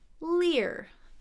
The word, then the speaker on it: leer: And this we have leer. So looks like maybe it could be pronounced the same, but it's a long E into that sound.